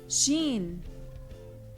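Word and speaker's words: شين: Shin. Sha. Like the SH in she.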